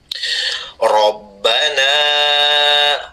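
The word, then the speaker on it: رَبَّنَا: n Perhatikan cara membacanya rbana ro bukan ra Rabbana tapi ro rbana panjang a-nya ini ada garis melengkung di atas ya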